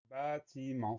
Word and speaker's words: bâtiment: On commence avec bas, B, A, accent circonflexe. Deuxième syllabe, c'est plus facile, ti, ti. Et enfin, la fin du mot, c'est ment, M-E-N-T. Donc le son s'écrit E-N. Et on a un T muet, mais bien souvent, quand